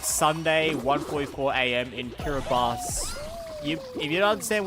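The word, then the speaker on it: Kiribati: in Kiraabas. You, if you don't understand what that means, uh, you know those islands, um, like right near the international daylight, it's spelled Kiraabati, but spel it's pronounced Kiraabas.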